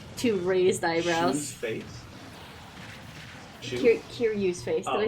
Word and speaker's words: Kiryu: It's just a close-up look of Shiru's face with like a two raised eyebrows. Shoe's face? Kiryu's face. Did I say something wrong? You just didn't pronounce the K.